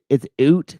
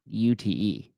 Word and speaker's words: Ute: It's Ute CrossFit, right, Madison? It's not UTE. It's pronounced like Ute CrossFit.